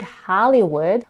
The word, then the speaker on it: Hollywood: In the word Hollywood, we have a as in father in the first syllable and tense e in the second syllable and the last in the last one.